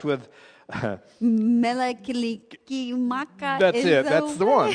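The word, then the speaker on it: Mele Kalikimaka: Melakilikimaka.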